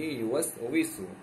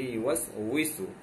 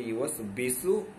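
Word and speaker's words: يُوَسْوِسُ: কোথাও লেখা আছে আল্লাযী ইউওয়াসবিসু বা কোথাও লেখা আছে আল্লাযী ইউওয়াসইসু। ওয়াওর নিচে যখন জের হয় সেটা কখনো বা মানে বায়ের মতো হয় না, কখনো হামজা কিংবা আলিফের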